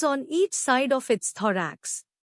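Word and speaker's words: thorax: थरेक्स नया लफ्ज थरेक्स इसको तोड़ते हैं दराक्ष जोर दो पर है टी एच ओल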